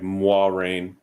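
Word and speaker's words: Moiraine: but that's closer to how the nerd is pronounce it because uh in their video about the trailer they were like mwah rain yeah it's supposed to be more rain like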